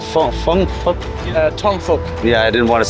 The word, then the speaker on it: Tong Fuk: Tong Fuk. Yeah, I didn't want to say because it might sound like something else. Tongfuk. F-U-K, yeah. Careful with the pronunciation. Fuk. It's not fa, it's fuk. Fuk, right?